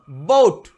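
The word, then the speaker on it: boat: যেমন দেখো বি ও এ টি এর উচ্চারণ বোট নয়, বোট। বোট এমন টেনেও বলবো না, বোট।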